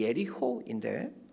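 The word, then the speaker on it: יריחו: 이 여리고에 대한 히브리어 발음이 예리호인데 향기라는 뜻인 레하흐라는 발음과 비슷하여 사람들은 여리고를 레하흐, 향기나는 도시라고 부르곤 했습니다.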